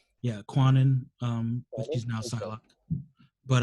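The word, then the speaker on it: Kwannon: you pronounce her actual name? Yeah, Quanon.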